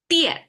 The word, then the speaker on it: 电: Okay, 电 is how we pronounce it, fourth tone.